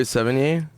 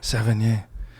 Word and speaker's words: Sevigny: Then was it with Chloe Sevigny? Ooh, you said it perfect. I've never said it right ever. I'm very theatrical, Joe. You are, dude. Sevigny.